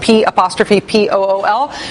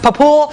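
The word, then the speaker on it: P'Pool: see there, is pronounced P''P-O-O-L. I'm told today by sources in Kentucky that it's not pronounced Papool, it's pronounced P-Pool.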